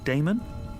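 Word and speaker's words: Daemon: a e m o n how do you pronounce that Damon if you prefer and this address I guess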